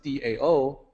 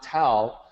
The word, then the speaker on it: Tao: keep saying that while spelled as tao but pronounced like d-a-o dao not tau that's a confusing point